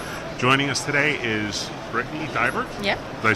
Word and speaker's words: Deibert: Joining us today is Brittney Deibert.